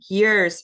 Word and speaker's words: years: met him a few years ago it's important to um pronounce the the S at the end of years because otherwise it's only one year um unless you met